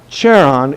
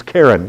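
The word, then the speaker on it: Charon: god of the underworld not sharon it's karen like his wife so that's the way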